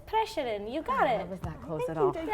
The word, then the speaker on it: Preseren: I mean, it's Preshaden.